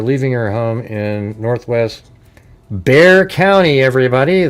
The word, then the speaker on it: Bexar: Almost was last seen at 658 on Wednesday after leaving her home in Northwest Bear County. Everybody, the X is silent.